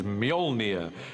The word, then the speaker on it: Mjolnir: The first challenge with the hammer is to work out how to pronounce it, which is Mjolnir in our movie at the moment. Until somebody corrects me, I'm sure they will.